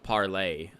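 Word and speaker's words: Parler: move over to this parlay it's it's spelled parlor with the e but it's parlay I guess is that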